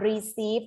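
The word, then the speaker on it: receipt: the beach ชีส ยา อ่าน รีซีท นะ คะ อ่าน ว่า รี ซีท ตัว ท. ทหาร นะ คะ บี บอก อ่ะ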